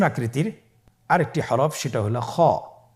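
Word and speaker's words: خ: খ হরফটির মাখরাজ হলো কণ্ঠনালীর শেষ ভাগ হতে উচ্চারণ করতে হয়, কণ্ঠনালীর শেষ ভাগ। আপনারা আমার সাথে বলুন খ, আবার বলুন খ।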